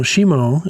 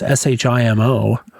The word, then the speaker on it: Shimo: No, Shimu is is the Frost Fark. Oh, I was probably saying it wrong. It's shim o. Oh, shimo. It's literally Japanese for frost.